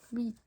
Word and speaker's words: hvit: before a V, the H is never pronounced, so you can just ignore it. Hvit. Hvit, okay? So almost all the Norwegian asking words also start with an H, then a V. We only pronounce the V.